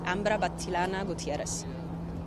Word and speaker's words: Ambra Battilana Gutierrez: Ambra Battilana Gutierrez. Spell that, please.